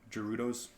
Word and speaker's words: Gerudo: Gerudos.